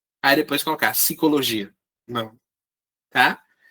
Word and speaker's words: psicologia: Você não pode colocar P, aí depois colocar psicologia. Não. Tá? Não é pi. A gente pronuncia. A separação silábica é psi.